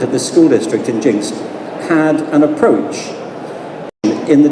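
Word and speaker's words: Jenks: Jinx it's actually spelled Jinx but it's it's pronounced Jinx just so you know in case you're ever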